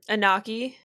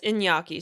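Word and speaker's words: Iñaki: You know what I love about um Anaki? Oh, no. It's Inyaki. Sorry, that should be how it's pronounced.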